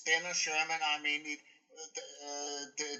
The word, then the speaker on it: Denner / Shermann: Yeah, that you know to me like it's you know it's Denner Sherman.